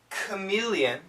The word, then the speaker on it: chameleon: then there's these words words like C chameleon scholar C scholar it's a k sound both have a k